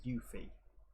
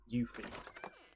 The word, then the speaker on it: Yuffie: no no no because that's how you pronounce the u in japanese is like a double o sound so that's probably where they're going with yuffie i don't know ah